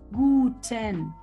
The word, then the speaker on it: guten: Tenemos la G, que se pronuncia G. O gu, gu, ga, ge, o gi. Ajá. Nunca se pronuncia j, como en gente.